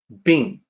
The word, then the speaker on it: 病: The pronunciation is like this, it's easy, Bìng.